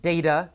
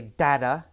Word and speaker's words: data: Some people pronounce it data, some people say data. Either is correct.